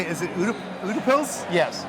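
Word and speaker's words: Utepils: Is it Udapils? Yes. Udapils. I butchered it literally 3 times, maybe 5.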